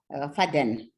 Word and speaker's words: Faden: Some Faden, Faden or Faden, his name is F-A-D-N. I pronounce it in the French way, Faden, Faden.